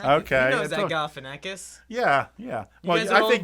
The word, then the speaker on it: Galifianakis: And Zach, how do you pronounce that last name? Galifianakis. Okay. He knows that Galifianakis.